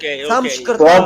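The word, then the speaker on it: संस्कृत: Sanskrit is pronounced Samskrita. Probably. No, at least over here in India.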